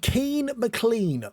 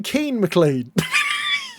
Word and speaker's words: Keane McClean: Then we have Keane McClean, a brilliant name, I'm sure you're saying. It rhymes, and I love a rhyme.